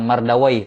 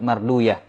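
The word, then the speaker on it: مردويه: Dan mereka telah menetapkan bahwa waw, ya dan ha seperti ini dibacanya bukan waih, ya, tapi sibuyah, rohuyah, marduyah dan semacamnya. Bukan mardawai tapi marduyah.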